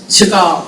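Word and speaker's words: Chagall: I can't remember how he pronounced his name, but there was a Chagal.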